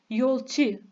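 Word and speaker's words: yo'lchi: biz yolcu diyebilir Ken Özbek türkçesinde bu yolçi olarak telaffuz edilir Biz oldu derken onlar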